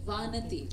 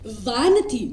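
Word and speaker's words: Vanathi: Okay, Vanati. Vanati. Yes. Vanati. That's the right pronunciation, Vanati.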